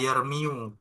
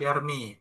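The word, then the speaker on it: يرمي: Bukan dibaca yermiu, tapi tetap yarmi.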